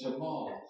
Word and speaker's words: Jamal: Forgive me if I've been saying Jamil. That's how they say it in London, and it's Jamal.